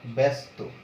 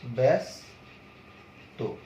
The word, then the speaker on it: ব্যস্ত: তাহলে এখানে উচ্চারণটা দেখো, ব্যাস তো। এখানে কিন্তু তুমি এস উচ্চারণ করেছো, যেহেতু এটা তয়ের সাথে যুক্ত আছে এই জন্য কিন্তু ব্যস্ত এটা উচ্চারণ।